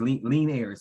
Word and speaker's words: Lenairis: And his name is pronounced Lenairis. Oh, Lenairis. Yeah, it's different. And it's okay. It's different. It's Lenairis. So just remember, you know, like leaning back, Lenairis.